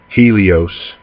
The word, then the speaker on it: Helios: some of the different names you might have heard this name pronounced as and this is a greek god one of them helio helio helios and helios you may have heard that this is